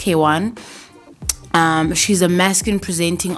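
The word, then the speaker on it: Kwn: Um, if you don't know who Kaywan is, she's spelled, her name is spelled KW N, but pronounced Kwan.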